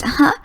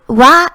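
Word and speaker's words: は: purply pink it's usually written as aha it's pronounced as ha but when it's used as particle it's pronounced and x y y does this va is a topic maker in front of the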